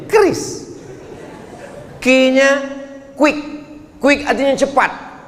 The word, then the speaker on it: QRIS: Cara bacanya gimana sebetulnya? Kris.